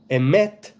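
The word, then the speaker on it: אמת: What does the name Emeth mean? Well, Emet, not with a soft T, but with a tough T, right? A hard T, a T, not a th. Emet means truth.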